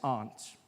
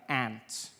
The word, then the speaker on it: aunt: Uh for instance, I pronounce the opposites of uncle as aunt. I say my aunt. Out here you say my ant. Which to me is an insect.